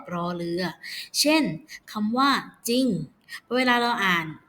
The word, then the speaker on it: จริง: เรือ เช่น คำ ว่า จริง เวลา เรา อ่าน จะ ออก เสียง แค่ จาน เพียง ตัว เดียว ไม่ ก็ จะ เป็น จ อิ ง จริง ไม่ ออก จรลลิง อย่าง นี้ นะ คะ